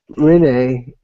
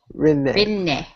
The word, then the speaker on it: Rinne: Renee, is that how you say it, JD? Yeah. Okay. Inuyasha created... I was saying, is that how you say it? Renee? Rinne.